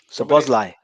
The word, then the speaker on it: Szoboszlai: Szoboszlai. Szoboszlai, that's it. Szoboszlai. I didn't pronounce that earlier.